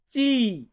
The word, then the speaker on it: ci: তারপরে কি আছে সি, মানে আমরা এটাকে বলি সি, আর ইতালিয়ান বর্ণমালাতে আমরা এটাকে উচ্চারণ করব চি।